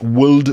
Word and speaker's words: would: Talk, could, would, and should all have an L in them, but it's not could, would, or should. It's could, would, should.